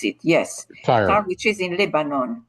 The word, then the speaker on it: Tyre: pronounce it. Yes, Tyre, which is in Lebanon.